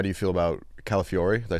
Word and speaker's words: Calafiori: How do you feel about Calafiori?